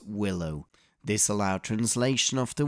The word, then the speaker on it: WLO: Microsoft ported a subset of the Windows libraries for OS2, given the acronym WLO, but pronounced as Willow.